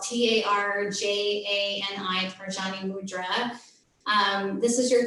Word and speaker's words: Tarjani: And today, I want to encourage you, if you're willing, to come into Tarjani Mudra. And Tarjani, it's spelled Tarjani, Tarjani Mudra.